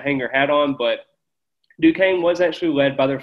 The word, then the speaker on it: Duquesne: It is not Duquesne. It is not any of these other pronunciations that people keep talking about. It is Duquesne.